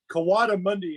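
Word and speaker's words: coatimundi: was like an aardvark or something that's uh kiwada monday it's spelled c-o-a-t-i-m-u-n-d-i fun and are you guys like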